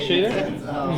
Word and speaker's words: Shada: Is that how you pronounce it? Shada?